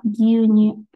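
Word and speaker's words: 牛乳: Nah, dalam bahasa Jepang susu adalah gyunyu. Gyunyu. Jadi panjang ya dibacanya itu gyunyu.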